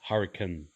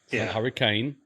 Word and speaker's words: Hurricane: on a little secret it's hurcan hurricane just pissed off every Utah person in the state it's Hurrican hurricane and uh Hur it's it's a weird pronunciation spelled the same way though um however you know